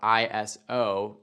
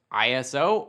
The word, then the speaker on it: ISO: ISO, spelled out ISO, can be pronounced ISO or ISO, and depending on where you are in the world, you might hear both, and both can be used.